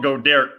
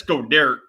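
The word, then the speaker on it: Goedert: he's got her but he's called go derek because we've been mispronouncing that name for over a year so since godare is on the kobe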